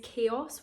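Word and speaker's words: Kaos: of him on it, is Chaos, which is a new show on Netflix. I don't know if it's that new actually. It's spelled K-A-O-S.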